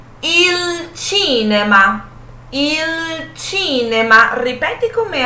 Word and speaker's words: il cinema: Però, in italiano, la pronuncia cambia. A pronúncia vai mudar no italiano. Qual vai ser a pronúncia no italiano? In italiano diciamo il cinema.